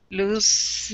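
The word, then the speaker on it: lose: l o s e loose loose yeah loose even though most people even uh native English speakers would like to pronounce that loose it is in fact loose kind funny one and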